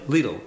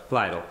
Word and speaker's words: Lidl: Lidl is going to go. Lidl. That whole area. Lidl. Part of Lidl. I don't remember how to pronounce it. It rhymes with needle.